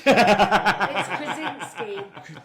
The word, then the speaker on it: Krasinski: Blunt, It's Krasinski.